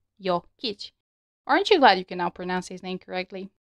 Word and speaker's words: Jokić: Same with Jokic being a two syllable word. Jokic.